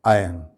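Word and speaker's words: iron: आयरन, बहुत commonly इसको इस तरह से प्रोनाउंस किया जाता है, जबकि इसमें एक्चुअली बोलते वक्त आर साइलेंट होता है, यानी इसका सही प्रोनाउंसिएशन क्या है? आयरन।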